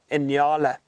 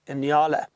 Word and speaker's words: nyala: And there's another species of antelope we find in this area known as the Inyala. That is spelt N-Y-A-L-A, Inyala.